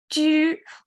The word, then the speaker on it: 汁: 十 can indicate this character's pronunciation. That means the whole character's pronunciation is similar to 十, but it's a kind of liquid. So what's that? 汁, maybe you know 果汁, 橙汁, 汁, 十, So 十 is a sound radical and water meaning radical.